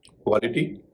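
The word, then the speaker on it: quality: क्वालिटी शुरू में है क्यू व उच्चारण हो रहा है।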